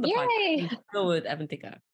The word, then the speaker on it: Avanthika: It's Avanthika. The second part of the name, you got it right. It's just the first name is Avanthika.